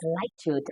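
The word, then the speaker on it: litotes: o t e s Litt somebody can pronounce as lude as well in general which is familiar to us Leos okay so what is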